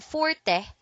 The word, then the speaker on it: forte: fourth the word is spelled Forte but the E is pronounced only when speaking of music as a Forte passage the words for a strong point and stronghold are pronounced same forth thank you for watching